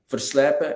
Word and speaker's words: Verslype: So his name is Mario, Mario, Verslepen, and that is spelled Verslype.